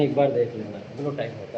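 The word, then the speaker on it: guillotine: इसकी भी स्पेलिंग एक बार देख लेना, ग्लूटाइन होता है, ग्लूटाइन बोला जाता है कि आप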